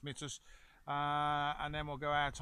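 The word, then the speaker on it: Myrtos: road past Assos, Mitus, which some of you might know as Mertu, but apparently it's pronounced Mitus, and then we'll go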